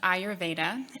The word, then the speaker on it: Ayurveda: is our Veda so are you ADA it's pronounced Ayurveda and the root that word Eyre a why